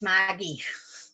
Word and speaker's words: Margie: Pronounced Margie.